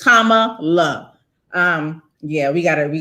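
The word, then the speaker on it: Kamala: thing when i heard when i heard it mispronounced i say comma love so for anybody who it's tama love um yeah we gotta we gotta put some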